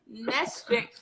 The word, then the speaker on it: Nestreya: is, and then have the same pronunciation as Estrella. So I put the Nestreya. So that's how the NES from the Nesquik, and then the TREYA is definitely from my first name.